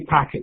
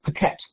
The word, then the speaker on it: packet: So if we take the word packet, the stress on the first syllable, I can say to my students, say packet, and they say packet maybe. But then I want to say, now, put the stress on the wrong syllable, and we're going to get paquette. It's not just a shift of stress. The vowels have to change.